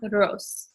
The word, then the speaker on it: arroz: And how you say that word, it's arroz. So you kind of roll the R in the middle.